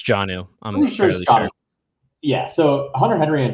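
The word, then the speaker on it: Jonnu: row and then uh jono smith i assume it's pronounced that way some people say joe new smith and i always no it's janu yeah so hunter henry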